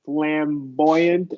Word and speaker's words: flamboyant: And then, yeah, what you did with flamboyant, that's exactly right. Emphasizing that Y sound.